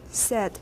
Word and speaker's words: said: Said. Everybody watch this one. Another commonly mispronounced word. We talked about it before. Says, said in standard American.